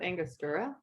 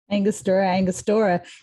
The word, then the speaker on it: Angostura: I think it's pronounced Angostura. Angostura. You And say Angostura, and I say Angostura.